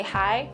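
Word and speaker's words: hai: First off, you say hi. It's the same thing, hi, but it's spelled different. It goes H-A-I. Hi.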